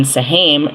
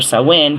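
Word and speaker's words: Samhain: is the is in sahim or sawin depending how you say it which is [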